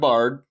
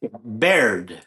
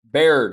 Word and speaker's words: Baird: Doug Bard, is that right? Baird. Baird.